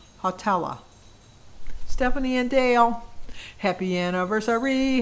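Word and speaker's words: Hawtalla: me to pronounce it h-a-w dash t-a-l-l-a hotella stephanie and dale happy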